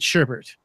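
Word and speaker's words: sherbet: clarified he has said he spells it as a GRB et but pronounces it sherbert contrary to what the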